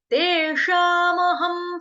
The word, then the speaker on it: तेषामहं: म तेषामहं, ह पूरा, ह के ऊपर जो अनुस्वार यानी कि जो डॉट आप देख रहे हैं, बिंदी देख रहे हैं, उसका उच्चारण होगा हलंत म से, हलंत म, हलंत का मतलब हो गया आधा म।